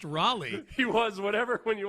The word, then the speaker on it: Raleigh: I've been to uh Raleia. I've been to Raleia twice. You mean Raleigh? Raleia. Oh, okay. Close enough. That's how you say it. How you say it again? Raleigh.